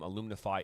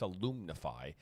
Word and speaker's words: Alumnify: about the 15,000-seat stadium, Alumnify. It is pronounced Alumnify, by the way, not alumni. I think that someone thinks that it's called alumni. It's Alumnify.